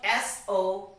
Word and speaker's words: soften: S-O-F-T-E-N.